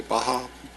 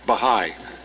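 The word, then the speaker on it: Bahá'í: the spiritual assembly of how do you say baja baha'i baha'i yeah of lancaster thank you for inviting us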